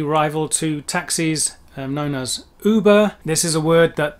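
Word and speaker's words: über: of the uber mensch the german pronunciation of uber is of course because german has umlauts and english doesn't there is a difference between ooh and in this case it would be uber mentioning there the ubermensch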